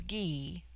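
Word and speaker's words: Gy: the singular with man the word for woman is G pronounced hard as in guy it forms itself into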